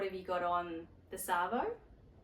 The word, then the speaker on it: arvo: You'll notice that the word this and Arvo sort of end up sounding like they almost go together. So Arvo sometimes sounds like Savo, and people sometimes will say it like that, Savo. So you'll either hear Arvo or Savo.